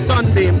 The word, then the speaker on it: Sonbeam: My name is spelled SONBEAM, so it's Sunbeam, but not with a SUN, it's a SONBEAM.